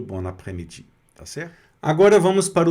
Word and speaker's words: après-midi: Então, bon après-midi, aqui no caso, o S não é pronunciado, sumiu.